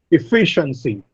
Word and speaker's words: efficiency: Efficiency. The second syllable receives the stress.